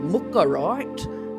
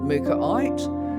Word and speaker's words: Mookaite: But these days we actually know it as mukarite. Well, actually not with an R. I'll try and say mukar it.